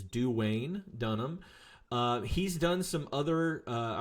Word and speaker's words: Duane Dunham: I did not mispronounce that. It is Duane Dunham.